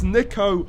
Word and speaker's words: Niko: It's Niko, not Niko.